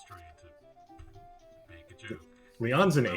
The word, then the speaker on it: Leon: supposed to be pronounced Leon. That's what I said. No, you got to put emphasis on the on, not the Lee.